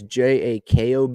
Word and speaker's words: Jakob: Jacob Junis, I think that's how you say his name. It's Jakob.